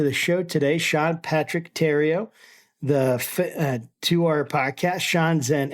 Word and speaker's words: Tario: Thanks so much for being with us here, Sean, and I hope I pronounced your last name correctly. Tario, tomato.